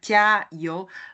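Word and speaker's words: 加油: Alors, jiayou, donc si je prononce comme ça, jiayou, littéralement, c'est-à-dire mettre de l'huile.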